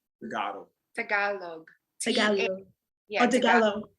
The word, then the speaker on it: Tagalog: Could you state what you just stated in Legalo? Did I say it right? Tagalog.